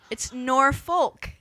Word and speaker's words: Norfolk: It's Norfolk.